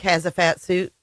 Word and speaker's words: Hatziefstahiou: But yeah, so Nik has a fat suit. That's how you pronounce. If you put in how to pronounce it, is has a fat suit. Has a fat suit. Yeah, that's how I remember how to say it.